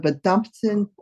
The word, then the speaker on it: verdammten: Gönne mir eine Pause von meiner Familie und dieser verdammten Wolke, auf der wir leben? Yeah, be careful with the V, it's always pronounced like an F.